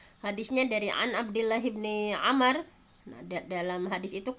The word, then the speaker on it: Amr: Kemudian yang hadis yang ketiga adalah bahwa hadisnya dari An Abdullah bin Amr. Nah, dalam hadis itu kalau ada wawu dibacanya Amr ya. Kalau tidak ada wawu dibacanya Umar.